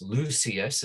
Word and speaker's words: Lucius: Lucius is how we pronounce it now, but it actually, in the old way of pronouncing, it's Lucius.